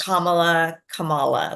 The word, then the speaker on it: Kamala: I think you Kamala.